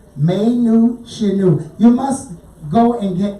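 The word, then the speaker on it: Mae Nous Shinu: Folks, it's spelled M-A-E, May, New, N-O-U-S. It sounds like Latin. Shinu, and I know that sounds Japan. S-H-I-N-U. May Nu Shinu.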